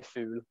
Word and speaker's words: fugl: In Norwegian, you say fool. Oh, well. That's quite similar, actually. Yeah. How do you spell it?